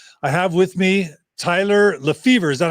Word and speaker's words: Lefevor: the most uh i have with me tyler lefevre is that how you pronounce it tyler yeah that's it john happy